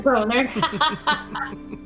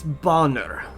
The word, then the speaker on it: Bonner: But it could be pronounced like German, like Boner. Boner. And they could be constantly correcting everybody. So when they say, "Oh, thank you, Dr. Boner," it's Bonner.